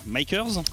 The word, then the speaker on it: MKS: alors du côté des mk est comme ça se prononce makers poséidon aquaman c'est le